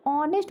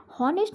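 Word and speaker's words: honest: ऑनेस्ट बोलते हैं, हॉनेस्ट नहीं बोलते, हावर्ड नहीं बोलते, इट्स कम्प्लीटली रॉन्ग।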